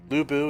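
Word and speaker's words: Lü Bu: there you go he said it right there Lou boo is the greatest warrior in all of ancient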